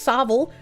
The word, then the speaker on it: Savile: Hey, considering Jimmy Seville, pronounced Savile, is more likely the UK government and the royals uh are wanting the groomer to do so.